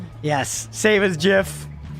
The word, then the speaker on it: GIF: It literally is GIF. That That is how it's pronounced.